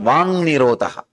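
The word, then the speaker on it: vāk nirodha: That is what is called Vang Nirodha. Vak Nirodha only, when you pronounce it, becomes Vang Nirodha.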